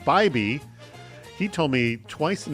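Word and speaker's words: Biby: B-I-B-Y is pronounced Bybee.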